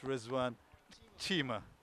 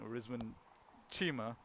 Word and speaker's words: Rizwan Chima: As he informed me, I said his name wrong. It's Rizwan Chima. So there you go. So now I can pronounce the name correctly. I'll say it again. Rizwan Chima coming into the pavilion as Adnan Syed.